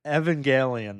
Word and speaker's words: Evangelion: Oh, I've been saying it wrong. Evan Evangelion, not Evan. Evan, whatever I said.